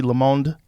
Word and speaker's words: Le Monde: The Atlantic, The Texas Tribune, Gannett, Washington Monthly, Le Monde, is that how you say it? Yeah, Le Monde.